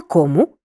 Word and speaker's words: кому: чого Чому чим Поглянь у формі місцевого відмінка займенники хто що мають наголос на першому складі наприклад на кому на чому займенники який чи котрий